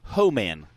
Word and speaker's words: Homan: He said it's pronounced Justin Homan. He said, like, "Ho man."